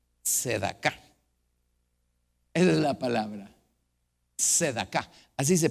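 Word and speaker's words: צדקה: Hebreo fonético, en otras palabras, la manera como se pronuncia. Sedaka. Eso creo que puede funcionar. Sedaka. Esa es la palabra. Sedaka.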